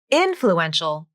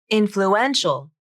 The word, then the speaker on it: influential: they are very influential wait influential nope that wasn't the correct syllable stress let me try that again influence influencer influential ah now that sounds right but why